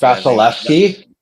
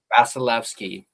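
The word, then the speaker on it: Vasilevskiy: Gujarov and Bas I can't I can't even pronounce Basilki. Vasilki.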